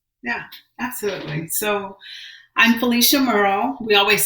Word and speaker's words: Murrell: So I'm Felicia Murrell. We always say Murrell like Pearl is the easiest way to remember the pronunciation of the last name.